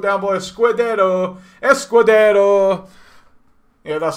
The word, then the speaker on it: Escudero: he's been brought down by a squared arrow Escudero yeah that's how you say it and Vaugh